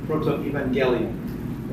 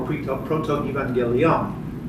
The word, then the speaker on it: Protoevangelium: Protoevangelium, or Protoevangelium. There's a lot of different people who pronounce it different ways.